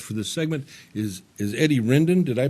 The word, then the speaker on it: Eddie Rendon: walling my guest for this segment is is Eddie Rendon did I pronounce that right yes sir I'm gonna vote